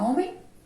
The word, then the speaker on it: homem: Mas, ó, preste atenção na pronúncia da palavra homem. Homem. Homem. Vocês ouviram o que som inicial? Da letra O. Muito bem, o som que é representado pela letra O.